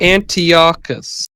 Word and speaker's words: Antiochus: Antiochus. What? Wait, Antiochus. Oh, is that Orcus? Is it spelled like the sort of etymologized Greek word for ecos?